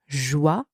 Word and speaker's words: joyeux: And finally, important, we have the letter X. And this letter in that word is silent. So you do not pronounce it. The final X is silent.